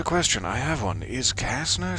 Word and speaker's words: Kasner: It's C-A-S-N-E-R, Kasner. Though I do like to pronounce it with a bit of the Z rather than the Kasner. Kasner. Just seems to roll off the tongue.